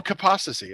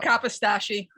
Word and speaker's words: Kapostasy: Well, Kapostasy. That's not a problem. Kapostasy.